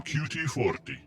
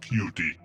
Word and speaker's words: QT40: I am QT40, not pronounced cutie.